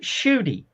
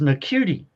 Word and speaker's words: Ncuti: name is spelled Ncuti, Shooty, yeah. but they call it Shooty. I thought it was Nacuti.